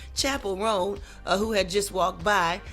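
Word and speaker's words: Chappell Roan: name of Chapel ran I would always say her name was Chappelle because it looks like Dave Chappelle but Chapel rone who had just walked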